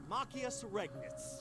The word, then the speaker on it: Machias Regnitz: Alright, how do you pronounce it? Machias Regnitz.